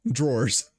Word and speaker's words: drawers: i get it better no you still said it wrong drawers you somehow put three r sounds into it when there are only two oh no yeah no